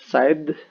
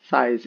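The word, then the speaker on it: Sai: On the left, we've got Michelangelo with his nunchucks, Raphael on the top with his size, not side, size, S-A-I.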